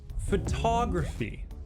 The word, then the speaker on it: photography: We learned that in English, we often stress a syllable by making it longer and louder. Photography.